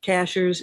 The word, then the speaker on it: Cashiers: over anybody can spell cashers is spelled like the cashier at the grocery store absolutely i remember you